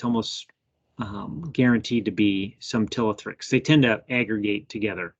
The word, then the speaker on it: Ptilothrix: Ptilothrix. So yeah, there's a silent P on the front, just to trip us up.